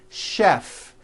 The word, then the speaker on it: chef: And to make things even more difficult, there are a couple of words that are spelled with CH and are also pronounced with the sh sound. Words like chef and the city of Chicago.